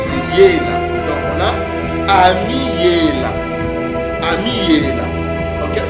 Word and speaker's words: Emmanuel: Donc on a Ami-Yela. Ami-Yela. ? C'est comme ça que ce mot se prononce. Ça ne se prononce pas Emmanuel. Non, ça c'est une fausse prononciation.